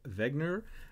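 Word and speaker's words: Wegener: here are contractionism alfred wegner as it's pronounced in austrian or german and plate tectonics uh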